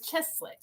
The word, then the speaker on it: Cieslak: I'm not going to pronounce her name correctly, but Cieslak, I think it is something like that. It is right there. Oh, it's like Cheslick. Cheslick. Okay, that's the way you say it.